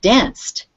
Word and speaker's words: danced: like dancing not dancing only after a t or a d do you pronounce with the id ending so this is a c sound it's in your mouth right danced we danced the night